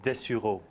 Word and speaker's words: Dessureau: Professeur de Sureau, alors c'est un très beau nom français, mais je ne sais pas comment on prononce. On dit Dessureau.